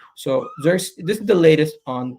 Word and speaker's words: Zirkzee: Zirkzee? That's how you pronounce it.